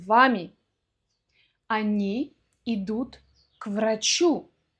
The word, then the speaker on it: к врачу: Они идут к врачу. Что такое к врачу? К врачу. Но произносим это в одно слово, на одном дыхании.